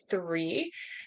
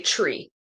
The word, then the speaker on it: three: often they will pronounce the number three which should be th tongue between your teeth three they'll say tree they'll be like one